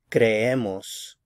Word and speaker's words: creemos: So there are three syllables here. The first one is the cre, and the stress is going to shift over to this middle syllable. So creemos, creemos. The last syllable is the mos. So again, stress right here.